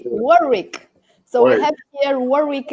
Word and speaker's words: Warwick: the estate absolutely so it's warwick second w is silent okay warwick so we have here